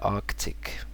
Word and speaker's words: Arctic: have Arctic so yeah Arctic and it's they say don't forget about the first SE apparently some people just say Arctic the Arctic but yeah Arctic okay this one confuses